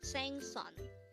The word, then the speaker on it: 생선: number 283 thang son sang son this is pronounced as a two-syllable word the first syllable is